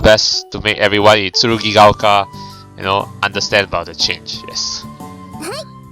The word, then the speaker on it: 剣ヶ丘: Yeah, but it's pronounced as Tsurugigaoka. Yeah. ええ。では頼みましたよ。 Alright, we'll do our best to make everyone in Tsurugigaoka, understand about the change.